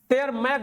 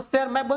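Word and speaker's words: Tschermak: था, और इरिक वान, इसको टेयर मैक बोलेंगे, टी इसका साइलेंट है, तो सेयर मैक वो ऑस्ट्रिया का, यही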